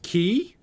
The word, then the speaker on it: Quay: gives me 20 off The Quay is pronounced key oh really it's the key really the key I